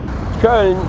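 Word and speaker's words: Köln: benedict the two dreamed of traveling the world cone and it's pronounced in the English cologne probably the one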